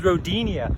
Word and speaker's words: Rodinia: It was Rodinia. Kind of rhymes with rodent.